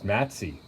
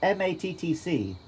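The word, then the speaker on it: Mattc: and apparently the staff thought my name was matsy that's worse than matsy how would you what so just m-a-t-t-c and they pronounce it i think i said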